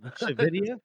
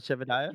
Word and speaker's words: Shavidia: Shavidia? Wait, it's Shavidia, not Shevadiah? Shavidia. Well, that's how it's said in the audiobook, anyway.